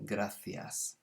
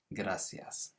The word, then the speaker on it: gracias: gracias which means thanks in spain most people have what's often referred to as the spanish lisp so they'd say gracias so they pronounce that c almost like an english th but there are some parts of spain and all of south america would say gracias if you want to